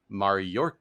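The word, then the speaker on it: Mayorkas: 100 on this one it's like the word Mayor and then k-a-s so and then you added an r in the notes and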